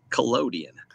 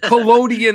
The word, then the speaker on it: collodion: So first, it's pronounced collodion. Collodion.